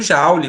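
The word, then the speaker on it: Joule: da transformação da eletricidade em calor o efeito jaule muito bem Marcelo não é assim que se escreve Jauri né mas é ele mesmo né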